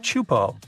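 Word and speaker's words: Teahupo'o: all the name itself is a mouthful is pronounced chupo and it means broken skulls in tahan yeah you heard that right broken skulls the waves at chupo are massive and can reach up to 23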